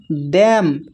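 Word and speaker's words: damn: यहाँ पर है डैम, डैम में भी एन साइलेंट है।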